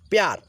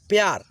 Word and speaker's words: प्यार: तो देखिए पुष्प, देखिए प है आधा और य में जुड़ा है ना, तो य के साथ में प को थोड़ा सा तेजी में हम लोग उच्चारण करते हुए चलेंगे, ताकि इसमें अ का ध्वनि न आए।